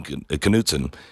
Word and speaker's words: Knudsen: with us, is Austin Knudsen. I think it's, now I should have asked. I can't remember. Do you pronounce the K or not? Austin, are you there? Knudsen, yes. It is Knudsen.